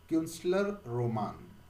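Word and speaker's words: Künstlerroman: Again, we will see the pronunciation, that is Kunstler Roman.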